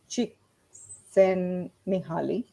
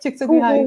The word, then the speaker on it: Csikszentmihalyi: by um, Csikszentmihalyi. I hope I've Yes, pronounced yes, his name yes, right. Yeah, yes. Csikszentmihalyi.